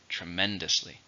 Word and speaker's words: tremendously: but it's an adverb how many syllables tremendously for stress in a second tremendously I enjoyed your performance